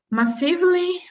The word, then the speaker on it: massively: Massively multiplayer online Massive. games. So Massively. the stressed syllable is the first one. So massively. Massively multiplayer online games.